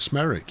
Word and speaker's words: Smethwick: To Smethwick. Yes. No, it is. They pronounce it Smerick, you know. Yeah, the locals.